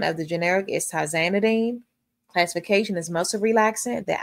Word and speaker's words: tizanidine: Pronunciation of the generic is tizanidine.